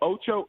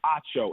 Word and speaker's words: Acho: When people say Emmanuel Acho, I'm like, Acho. No, Emmanuel Ocho? No, it's Acho.